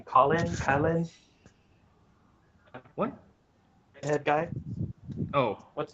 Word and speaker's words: Klein: Colin? What? Redhead guy? Oh, What's the redhead guy's name again? I always Oh, forget. Klein. Its name's Klein.